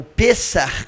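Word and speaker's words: פסח: Então, historicamente, a Páscoa, ou Pessah, como se fala em hebraico, é a descrição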